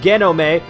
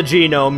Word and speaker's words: genome: I'm sorry, I know I pronounced it genome, but that's just because I was like, oh, well, you know, it's a Japanese video game, right? So just pronounce it as if it were, you know, Romaji or something. And that was not the way to go. It's a genome because I'm an idiot.